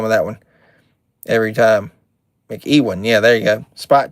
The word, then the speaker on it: McEwen: We got Tom McEwen. I think is how you say that. Irwin McEwen. I always have a hard time with that one. Every time. McEwen.